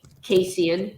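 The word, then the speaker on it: casein: y way out or anything like that way casian c a i n y there are many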